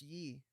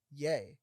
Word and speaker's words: Ye: yeah, people thought it was Yee instead of Yay.